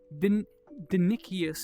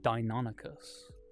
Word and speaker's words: Deinonychus: reading this book, and I'm like, oh yeah, Dinichius is like a real cool kind of raptor, and his kid like looks at me, he's like, it's pronounced Deinonychus.